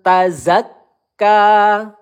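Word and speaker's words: تزكى: Tazakka. Kaf bertasdid kita tekan terlebih dahulu ya. Bukan zakka.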